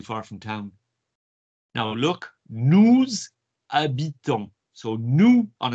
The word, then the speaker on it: habitons: Okay, so it's nous, and then it's as if the H isn't there. Habitons, nous habitons.